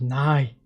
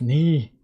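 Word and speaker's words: 你: It's not nigh. It's knee.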